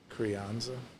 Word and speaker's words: Crianza: We love pink sauce with a rice, or with a nice easygoing red wine, such as, was it, how do you pronounce that? Crianza.